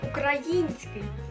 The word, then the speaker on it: український: в нас з вами буде український на голос ставиться на літеру ми з вами не кажемо український Ну ось наприклад я сьогодні